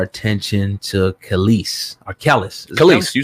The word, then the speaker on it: Kelis: Kelis, you said it right.